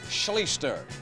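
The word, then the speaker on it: Schlichter: State only a sophomore art Scher is how you pronounce his name and he can can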